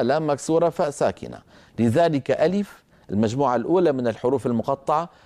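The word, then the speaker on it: ألف: واحد وهو حرف الف الف الف الف الف كما تلاحظون عندما انطق اسمه عباره عن همزه مفتوحه لام مكسوره فاء ساكنه الف طب اين امد المد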